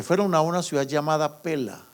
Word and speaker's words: Pella: Se fueron a una ciudad llamada Pela, se escribe con doble L, Pella o Pela, en la zona de Petra, por allá.